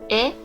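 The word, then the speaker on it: へ: And then here they introduce particle he, which is the one Kido was saying, which is this one. But it's pronounced e.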